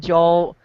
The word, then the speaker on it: Joel: what you said and Joel here's what I experien get my name wrong it's Joel yeah Joel like Joel to tell you the